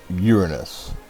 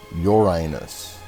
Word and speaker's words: Uranus: this sort of that right now it is pronounced Uranus not Uranus okay nine now now settle down stop the